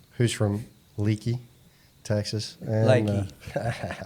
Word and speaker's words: Leakey: And, Lakey, pronounce it correctly.